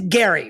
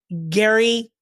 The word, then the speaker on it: Gerry: I'm already Let's start first with, now, it is Gerry, right? Like I keep saying Gerry, correct. but it's spelled Gerry, but pronounced Gerry.